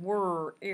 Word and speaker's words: word: The question becomes, what happens when it is the digraph OR that follows the W, as in word? And interestingly enough, that then makes kind of a short E sound, word, erd, and we can make